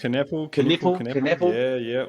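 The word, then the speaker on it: Knueppel: I want to make sure I get the pronunciation right. Is it was it Con Kneppel? Is that how you say it? Kneppel.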